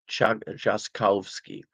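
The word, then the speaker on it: Trzaskowski: He's got a an R zed in the name, which I believe is pronounced like a J. Should I try it again? Chazcowski.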